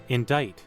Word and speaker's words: indict: Indict. Okay. Yes. Okay. He was indicted. Okay. Why is it spelled like that? What? Why? Why is it spelled like that? That's awful. Okay.